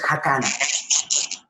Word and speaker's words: Jacana: Luego es Jacana.